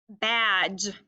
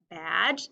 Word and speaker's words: badge: your next word is badge firefighter fred wears a badge badge is b-a-d-g-e it has our silent dippy duck in the word because we want that a to say ah in badge good job